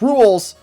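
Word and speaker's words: Rouxls: There's a lot with the song, it's pronounced "Rools", suggest that Ralsei is aware that he is in a game.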